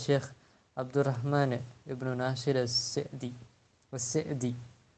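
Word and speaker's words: السعدي: அப்துல் ரஹ்மான் இப்னு நாசிர் அஸ்ஸெதி, அதாவது சீனுக்கு கஸ்ர், இதுதான் சரியான உச்சரிப்பு. ஷேகுனா அபு அம்மார் யாசிர் அல் அதனி கூறியது போல் அஸ்ஸெதின்னு உச்சரிக்கிறது தான் சரியான உச்சரிப்பு.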